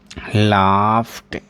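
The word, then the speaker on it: laughed: और एग्जांपल देखिए, जैसे लाफ है, इसमें आपने ईडी जोड़ा, ठीक है, इसमें आप ईडी जोड़ रहे हो तो इसका प्रोनाउंसिएशन कैसे होगा? लाफ्ट, लाफ्ट, लाफ्ट, लाफ्ट।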